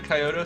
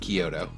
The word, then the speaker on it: Kyoto: Did you ask about the Coyotto Summit? Yep. Definitely is pronounced Kyoto.